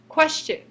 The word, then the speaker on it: question: C Sound for example because English is influenced by Norman French we pronounced the word spelled quu s t i o n as question whereas in Parisian French